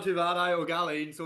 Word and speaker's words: Ó Gaillín: I hope I'm pronouncing your surname right. How are you, Cathal? Not too bad, not too bad. Ó Gaillín, so Ó close enough.